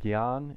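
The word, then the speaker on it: ज्ञान: nasal sounds together, well, we would try to say jnya, but it ends up wasting a lot of prana. And so, how we pronounce it instead is gya. Like a G and a Y sound.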